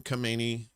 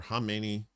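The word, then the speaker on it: Khamenei: regime against attacks on Kamani funeral or Hamini, depending on how you pronounce it. I've heard it both ways.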